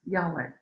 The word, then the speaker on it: Yahweh: the initials yhwh which would which today we pronounce yahweh and the word yahweh the linguists tell us